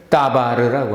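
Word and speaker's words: דבר: 사람이 말한다는 것을 따바르라고 합니다. 따바르. 그러면 DBR이네요. 그렇죠? DBR, 따바르.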